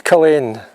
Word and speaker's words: Culzean: pronunciation all wrong, and although it's spelt Culzean, the young woman in the castle confirmed that I'd got it wrong. I'm pronouncing it wrong all this time. It is Culzean. A silent Z.